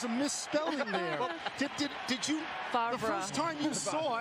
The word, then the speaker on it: Favre: I have to say that every time, I know it's pronounced Favre, but every time I see the jersey, I think there's a misspelling there. Did you, Favre.